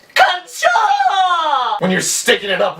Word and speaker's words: カンチョー: So at the top here it would be pronounced Kancho, Kancho. But down here it's a little different. It would be Kancho.